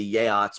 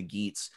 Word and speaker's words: Geats: Beowulf's own people, which there should be pronounced the Yeats, but everybody just calls them the Geats.